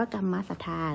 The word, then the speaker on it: กัมมสัทธา: คะ นัก เรียน 1 กัมมสัทธา อ่าน ว่า กัมมสัทธา นะ คะ ก็ คือ ความ